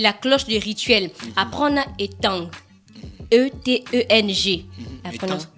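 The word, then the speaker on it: Eteng: Apprendre étang. E-T-E-N-G. Étang. On ne prononce pas donc le G.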